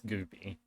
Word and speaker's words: Goopie: It's either spelled, depending on what I can get, it's either, sometimes it's spelled, it's got the, ends with the Y, sometimes it ends with the IE, but it's Goopie.